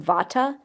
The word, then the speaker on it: Vata: In the West, we pronounce them Vata, Pitta, and Kapha.